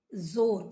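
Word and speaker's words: ज़ोर: के उपसर्ग होते हैं जोर फारसी का शब्द है जोर जोर और आपका प्रोनाउंस भी ऐसे करना है।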